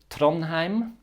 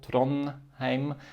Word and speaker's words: Trondheim: Tronheim. The D is written but not pronounced. It just remains silent. Very practical. We don't need to worry about it. And the EI combination is an A. Tronheim. Tronheim.